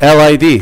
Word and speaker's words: lid: How do you pronounce it? Lid. Is.